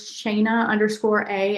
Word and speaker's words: Shana: My personal profile is Shana_A. It's spelled like Dana, so SHANA_A.